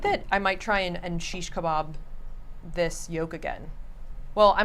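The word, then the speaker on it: shish kebab: is ninja kirby says sheesh kebab is actually the correct pronunciation of it there you go sheesh kebab and you can actually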